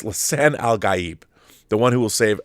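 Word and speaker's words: Lisan al-Gaib: Savior or Lan Al Al gab G it's Lan algib the one who will save araus it's Lan alib is how you pronounce it multiple characters State over and over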